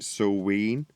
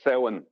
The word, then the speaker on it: Samhain: It's not Sulween. Well, it depends. Maybe it depends on what part of Ireland I'm from. But Samhain is how I would pronounce it in Gaelic.